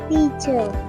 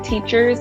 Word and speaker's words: teachers: My parents are postmaster teachers. Teachers. Can we try teachers again? Teacher. Make sure we pronounce the S, okay? Teachers.